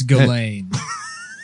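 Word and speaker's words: Ghislaine: ] yeah yeah it's glade they don't yeah none of them you don't pronounce any of the letters does she does she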